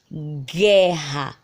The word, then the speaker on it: guerra: Exemplo, a palavra guerra. Escutem a palavra guerra, ó, gué. Percebam que a gente escuta o som do G e escuta o som do E, mas não escutamos o som do U, ok?